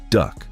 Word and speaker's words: DUKW: The GMC DUKW, pronounced Duck, built during World War II.